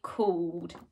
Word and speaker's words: called: called cold now again we have an ed ending for called but it doesn't really sound like it at the end like the others it sounds like a but you need to remember to put the e first so we've got a but we'd never say that we always say cooled good job have a